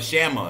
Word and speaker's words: Shama: Shama. Am I saying it right? Shama. Yes, sir. It's all good. It's Shama. Okay.